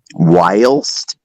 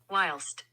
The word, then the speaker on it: whilst: yes was it last s that's how you pronounce it whilst that is not correct that's incorrect no no